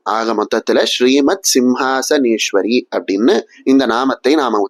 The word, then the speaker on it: ஸ்ரீமத் சிம்ஹாசனேஸ்வரி: இந்த நாமத்தை எப்படி உச்சரிக்கணும் அப்படின்னா ஸ்ரீமத் சிம்ஹாசனேஸ்வரி அப்படின்னு சொல்லணும். இங்க வரதெல்லாம் வெறும் சதான் ச இல்ல. அதனால ச அப்படிங்கற அக்சரத்தை மட்டும் சொன்னா போதும். ஈஸ்வரி அப்படிங்கிற இடத்துல மட்டும் இஷ் அப்படிங்கிற எழுத்தை சொல்றா போல இருக்கும்.